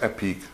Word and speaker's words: Epique: and the construction and more details of this epic small cube subwoofer build now i know it's pronounced epic i'm just trying to like add a little